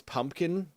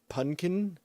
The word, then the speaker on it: pumpkin: hard time I I I try to pronounce pumpkin because you always hear punkin and it's just missing and getting wrong several consonant in there and you just hear